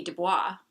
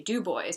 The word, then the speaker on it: Dubois: one of the places another place would be Dubois which you would think would be Dubois but no it's Dubois Pennsylvania and then also near